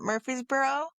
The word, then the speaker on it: Murfreesboro: That's how you say it, Murfreesboro. Or it reminds me of one of those towns like anybody ever seen Mr. Deeds with Adam Sandler? Something Fieldsville town or some shit. Hold on. Yeah, Murfreesboro.